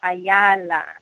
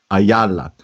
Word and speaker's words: Ayala: The last name, Ayala, is that the correct pronunciation? You're close. It's Ayala. Ayala.